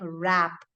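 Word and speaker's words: wrap: in the words like rap so Ive missed the r there okay the third word is rap w r a p so again the W is silent there words wreath when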